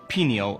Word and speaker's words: pineal: introducing you to the pineal gland in two important neurotransmitters serotonin and melatonin let's start with the word pineal or pineal both pronunciations are correct pineal or pineal meaning pine cone shape the pineal gland it